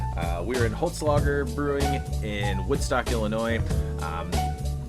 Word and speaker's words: Holzlager: we came out to visit the guys at Holtz logger am I saying it right you are than